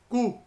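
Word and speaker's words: coup: थे through power of कू। कू word में P silent होता है।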